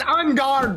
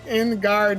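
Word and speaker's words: En Garde: He said in guard. It's on guard boots. Actually, how good are these books? It's like when you're fighting somebody with a rapier sword, you say on guard.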